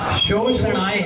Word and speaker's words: शोषणाय: तो नमो सिद्ध भवो दति शोषणाय, शोषणाय है, सीटी निकलेगा फिर तालु में टच हो जाएगा, तो वो सही उच्चारण आएगा।